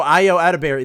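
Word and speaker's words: Ayo Edebiri: Like when Io Edebiri, I'm sorry if I pronounced her name wrong. Streamberry. No, Io Edebiri, that's her name.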